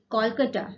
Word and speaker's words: Kolkata: Kolkata, okay. Previously, it is called Calcutta, and now the pronunciation is Kolkata.